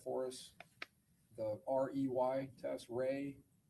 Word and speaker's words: Rey: There's also a visual spatial ability test and I'm going to have you explain or pronounce that for us. the REY test. Ray, the Ray Ostrich complex figure test.